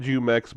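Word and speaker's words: Jumex: And I actually had to look up how to say this uh because I I always called it Jumx, but I was like kind of sounds a little bit iffy. But no, that's actually how it is.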